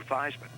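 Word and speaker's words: Theismann: we think by just simply changing the pronunciation for your last name from thieves into thighs and to ryan with heisman we can get you that trophy and that's how i became joe feisman and uh it was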